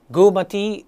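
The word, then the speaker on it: Goormaghtigh: I G H cell Gumati cell. Yes, we very often we tend to pronounce each letter in the word but that's now how most of the words are pronounced.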